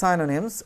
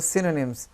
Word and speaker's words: synonyms: এই উচ্চারণটা সাইনোনিমস বলে ভুল হবে না। তো আমরা দুটো উচ্চারণ করতে পারি, সাইনোনিমস অথবা সিনোনিমস অ্যান্ড অ্যান্টোনিমস are also.